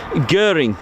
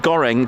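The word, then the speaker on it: Göring: Guring, not goring. Gorang is a um is it a Malaysian stir fry dish with rice? Sorry about that. Anyway, but I liked my goring. Anyway, guring.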